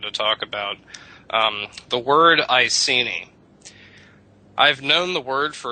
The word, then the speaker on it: Iceni: In Latin, an E would be pronounced A. In English today, it's E. A-E. The I in Latin would be pronounced E. Today it's pronounced I. E-I. You're going up in the mouth. So it's Iceni to us. To the Iceni, it would have been Iceni.